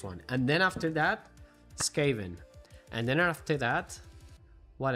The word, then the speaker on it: Skaven: Miguel, Skaven se pronuncia como Skaven. Skaven. Skaven, ¿quieres decir? ¿En serio? Skaven. Scavenger. Pues tiene razón, pues posiblemente sí. Skaven como Scavenger.